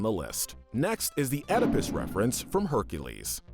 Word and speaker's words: Oedipus: Oh, and as an additional bit of trivia, icing on the cake, it turns out that the correct pronunciation of Oedipus is actually supposed to be Oedipus.